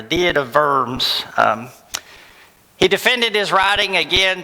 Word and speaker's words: Diet of Worms: So diet, and anytime you see a W, it's a V. So this is like the diet of worms.